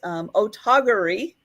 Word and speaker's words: Otagiri: And this is done by, I'm gonna say it like Claudia taught us, Otagiri.